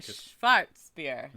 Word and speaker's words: Schwarzbier: And you have to say it like that. A Schwarzbier.